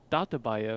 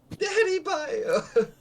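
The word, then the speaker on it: Dattebayo: And I say it's Data Bio, and she goes, Daddy Bio. Daddy Bio.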